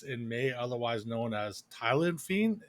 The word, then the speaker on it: Tyleniphe: Today we have a special guest in May, otherwise known as Tyleniphe. Is that how you pronounce it? I'm not sure if that's actually how it's supposed to be. But Close. It's Tyleniphe.